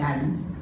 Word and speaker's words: Adie: Y esa se llama la pupila de Ali, es ADIE, se escribe A-D-I-E-A-E, la pupila de Ali, y esto es por una lesión del ganglio ciliar.